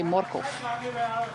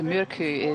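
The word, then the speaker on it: Mørkøv: Rider in Denmark in Dutch we'll accommodators often say morgov it's just a pronunciation it just ignore the uh the sounds but I've been saying Markov for seven eight years so going to murku is still feels a bit weird yeah but you you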